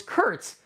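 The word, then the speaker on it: Kert: His name was Kurt Gardner, but his name Kurt is spelled K-E-R-T. And he said the reason why his name is spelled that is because his parents, when his parents named him, they named him after Star Trek, but they just took Trek and put it backwards. So it's Kurt.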